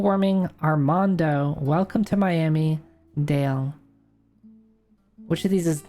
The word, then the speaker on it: Dale: Global warming, Armando, Welcome to Miami, Dale. Which of these is not a name of an album? All right. I think I I think I know Welcome to Miami is by Pitbull, right? It's pronounced Dolly.